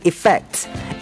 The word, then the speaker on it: effect: native speaker เหมือนกันเป็นเจ้าของภาษาด้วยเหมือนกันนะฮะก็คือว่าแซลมอนเพราะฉะนั้นคำนี้คือแต่ถ้าจะให้ปลอดภัยนี่ออกไม่ต้องออกเสียงตัว L ก็แล้วกันนะฮะอ่ะคำสุดท้าย specialeffect คำว่า effect นั่นคือภาษาไทยนะแต่ถ้าเป็นสำเนียงแบบที่ถูกต้องเนี่ยต้องออกเสียงว่า effect ที่แปลว่า effect อ่ะภาษาไทยคือ effect อ่ะภาษาอังกฤษคือ effect e f f e c t e England